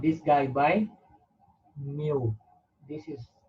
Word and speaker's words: mu: mean okay we did not this guy by mu this is pronounced like just new this is one week